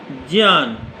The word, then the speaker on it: ज्ञान: ज्ञा बनता है जा धन इया से, इसलिए इसका उच्चारण होगा ज्ञान। ग इया से नहीं बनता है, इसलिए ज्ञान कभी न कहें।